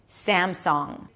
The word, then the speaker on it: Samsung: Notice that I don't pronounce a G sound at the end, even though it's spelled with a G, but I'm pronouncing an